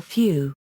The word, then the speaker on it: phew: Few or few, eeu, also spelled show, may start with a bilabial fricative, a sound pronounced with a strong puff of air through the lips.